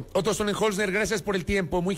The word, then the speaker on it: Sonnenholzner: A Otto Sonnenholzner, yo sí pronuncio bien el apellido del candidato. Otto Sonnenholzner Esper, candidato a la presidencia de la República por la Alianza Actuemos.